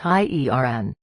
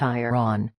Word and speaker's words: iron: Answer: it is pronounced iern, not iron.